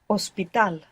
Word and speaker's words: hospital: So it's written, the H is written in convertible words, for example, like hospital, ends in AL, but it's not pronounced. You must imagine that it begins with an O.